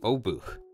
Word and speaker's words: Obuch: the polls unique unit the obuch which i'm told by my polish viewers is the right pronunciation now cavalry is probably